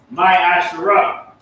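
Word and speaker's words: ma'aser: Means 10th in Hebrew, and it's pronounced my Asherah.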